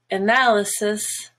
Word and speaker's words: analysis: And then we have analysis, black. Everything else is a schwa.